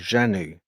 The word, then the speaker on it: Zanu: him, "No, you know, our name is Janu um but it's spelled Zanu, you know, Zanu."